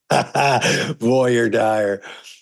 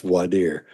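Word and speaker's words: voir: and you hear some people call it that Voyer D but it's but it's pronounced voer and that's when you don't you don't select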